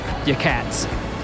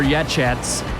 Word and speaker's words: Yachats: So all this is right outside of a town called Yakats, or Yachats, Yachats, Yakats, or Yahats. No clue how to pronounce any of it.